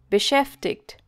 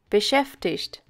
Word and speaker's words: beschäftigt: Beschäftigt. Er ist mit seiner Forschungsarbeit sehr beschäftigt. Sometimes you might also hear the pronunciation beschäftigt.